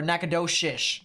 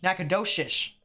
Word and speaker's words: Nacogdoches: fluorine interesting robaleen okay this is Nacogdoches right here or a nacado shish Nacogdoches that's how that's pronounced okay so it's Shish instead of okay I'm sorry I'm